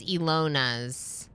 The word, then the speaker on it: Elana: everyone say hello uh turn the middle a into an o oh is your name pronounced the same way as Elana's Elona really that's awesome cuz